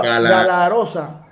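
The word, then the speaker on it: Galaroza: ¿Así se pronuncia bien, profe? Gala. Galarosa.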